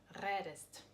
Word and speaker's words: redest: Stem we have red, but try to pronounce it like redst. You see, it's really difficult to pronounce it. That is why in German language we have to add e. How it looks like? Re, der, st. You see? And we have ending est. Okay, redest.